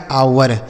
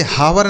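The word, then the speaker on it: hour: आगे लिखा है बच्चों एच ओ यू आर इसे पढ़ा जाएगा आवर। एच ओ यू आर आवर। इसे हावर नहीं पढ़ेंगे। यहां पे जो एच है ना बच्चों ये साइलेंट है इसको नहीं पढ़ा जाएगा।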